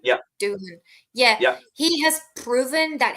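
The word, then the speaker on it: Doohan: I think I think Jack Duan that's how you pronounce his name yeah Doan yeah he has proven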